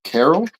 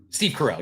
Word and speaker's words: Steve Carell: Carol. Yeah. Ter morning morning show. Wait, Steve Carell. Steve Carell.